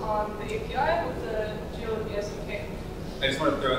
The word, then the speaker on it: Geoloqi: that people could use and we called it GE after asking Twitter what to call it um